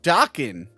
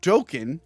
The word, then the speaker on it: Dokken: The band is pronounced Dokken, not Dokken, as I said several times.